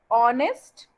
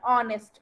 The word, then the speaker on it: honest: Because you have a word like honest, which start with H, but its pronunciation is O, like O. That's why we use an there. An honest man.